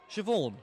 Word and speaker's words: Siobhan: I have no idea how to pronounce that name. Where? Siobhan.